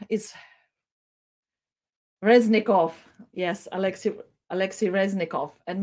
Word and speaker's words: Reznikov: station was expressed by ministry of defense alexei rozitsky rezitzkov sorry my pronunciation is reznikov yes alexis alexi reznikov and maybe let's uh